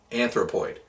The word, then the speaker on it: Anthropoid: Anthropoid.